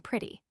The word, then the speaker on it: pretty: The short I in England is almost universally substituted for the E in pretty, and this pronunciation is also inculcated in most American schools. But I often hear an unmistakable E sound in the United States, making the first syllable rhyme with bet contrariwise.